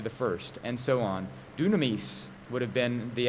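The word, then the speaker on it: δύναμις: Incidentally, dunamis means power in Greek. It's the same word that we get dynamite from. I'm pronouncing it in the Koine pronunciation. Modern pronunciation might pronounce it dynamis, but it's the same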